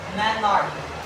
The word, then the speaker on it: menarche: As well as the first period is what we call, and it is pronounced in class, in this highlighted part or highlighted word, menarche.